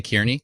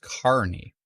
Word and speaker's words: Carney: it and yeah oh it's Carney sorry did I say Kierney Carney my bad Carney thanks Tom appreciate it Tom looks upset with me in his photo there that I pronounced it wrong but it's pronounced Carney Bron doing some real-time